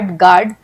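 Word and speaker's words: guard: यानी कि वह साइलेंट है। जैसे कि जी यू ए आर गार्ड बी ए एल M balm P ए एल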